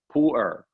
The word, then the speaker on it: pu-erh: pile of Tipu earth it's called two syllables to earth it's usually spelled pu-erh Pooler poor can only come